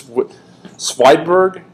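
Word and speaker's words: Svedberg: Swedish name, I believe, and I cannot pronounce the name. It's Swedberg, I believe is how it's pronounced.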